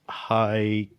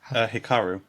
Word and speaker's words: Hikaru: It's the summer that Hikuru. No, Hikuru died. Is that how you pronounce it? Hikaru. Hikaru. Thank you.